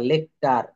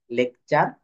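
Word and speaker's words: lecture: ইউ R furniture স্ট্রাকচার তো এখানে টি এর পর ইউ থাকলে এই এর উচ্চারণ চ এর মত হবে ফার্নিটার বলা যাবে না সেন্টরি বলা যাবে না বলতে হবে সেঞ্চুরি লেকচার অর্থাৎ টি এর পর ইউ থাকলে টি এর উচ্চারণ চ এর মত হয়ে যাবে এই যে টার হওয়ার কথা লেকটার সেঞ্চুরি বাট এটা হবে চ লেকচার সেঞ্চুরি ফার্নিচার স্ট্রাকচার এটুক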